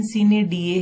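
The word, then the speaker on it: sine die: इसकी प्रोनाउंसिएशन सीने डीए है।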